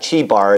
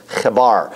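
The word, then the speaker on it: Chebar: in daniel the river kebbar c-h-e-b-a-r it's not chibar it's kabar but anyway cato laumer and the king okay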